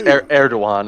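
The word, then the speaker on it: Erdoğan: tanks that just yeah I think it's eruan is is is how you pronounce it Eran all right so the G has got like a w on it gotcha shows you honestly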